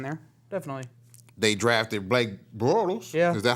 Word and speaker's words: Bortles: They drafted Blake Bortles. Yeah. Is that how you say it? Bortles?